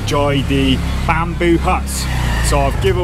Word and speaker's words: Joy D: place it's called JD I was pronouncing it JD but Roy said it's called Joy d bamboo Huts so I've